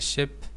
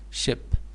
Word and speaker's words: ship: the dense fog the ship it's not long e it is short e so ship and sheep this is